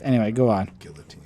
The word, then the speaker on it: guillotine: I mean, I just know how it's pronounced. Anyway, go on. Guillotine.